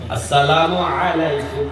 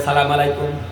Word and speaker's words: আসসালামু আলাইকুম: আসসালামু আলাইকুম আসসালামু আলাইকুম এই মুসলমান প্রতিদিন পাঁচ ওয়াক্ত নামাজের মধ্যে সালাম উচ্চারণ শিখে স্বয়ং ইমাম সাহেবের সাথে জামাতে নামাজ পড়তে যাইয়া সালামের উচ্চারণটা শিখে ঠিক তারপরও রাস্তাঘাটে আইসা সেই সালাম দেয় সালামু আলাইকুম এই মুসলমানের কি অবস্থা দেখেন মুসলমান শুদ্ধ করে সালাম দিতে জানে না অথচ দোকানপাটে মাসলা মাসায়ের